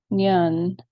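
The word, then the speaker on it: Nion: Nyun is how you pronounce that.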